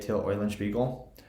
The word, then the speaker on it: Till Eulenspiegel: So if you've never heard Till Eulenspiegel's Merry Pranks, that's how you say it, Till Eulenspiegel, go check it out on YouTube.